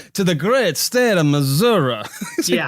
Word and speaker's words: Missouri: No, it's Missouri. Only the fancy politicians say Missouri when they're out trying to appeal to the more rural people for some reason.